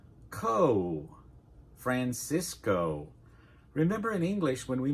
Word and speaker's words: Francisco: Now, let's start with that Explorer himself, Francisco Coronado Francisco Coronado, so we'll start with Fran /ae/ like in "apple" /si/ /i/ like in "fish" /Co/ "Francisco" Remember in English when we make "o" our mouth forms and "ooh" at the end.